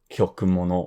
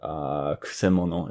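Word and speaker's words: 曲者: I'm guessing the most common mispronunciation of this would be like kyokumono or kyokusha or something like that. But kusemono is the way you pronounce this.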